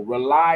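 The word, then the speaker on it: RAULI: Rely is spelled differently. It's spelled R-A-U-L-I on purpose, and it stands for rebooting and uniting lost energies.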